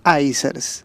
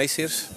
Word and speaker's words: ICEERS: que es el director ejecutivo de ICERS.